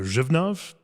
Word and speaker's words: Břevnov: Joining me is Aleš Potěšil at Břevnov. Did I say it correctly? Yeah, perfect. Okay. I'm working on my Czech pronunciation on this entire trip.